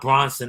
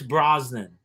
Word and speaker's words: Brosnan: your night saturday night not bronson i know it's not bronson but for some reason i came brosnan pierce brosnan i guess and that's that's how you say it it just feels like